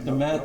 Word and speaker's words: DeMatha: I just wanted to make sure I pronounced it right. DeMatha.